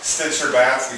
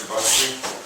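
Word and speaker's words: Stcherbatsky: Here's a quote from a philosopher named, it looks like Stitcher-Batsky, but his name's pronounced Cherbatsky.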